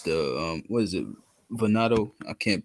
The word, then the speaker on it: Venado: Venado. I can't pronounce it. I'm not gonna butcher that shit. You had it right, Venado. That's right.